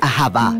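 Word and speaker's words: אהבה: como lo es en el hebreo antiguo se pronuncia aaba su significado básico se refiere a la clase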